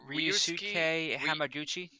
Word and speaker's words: Ryusuke Hamaguchi: You gotta pronounce it for Oh, me. sorry. It is Uh, Ryusuke Ryusuke Hamaguchi.